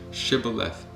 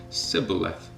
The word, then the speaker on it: Shibboleth: If he said no, then they would say to him, Then say, Shibboleth, and he would say, Sibboleth, for he could not pronounce it right.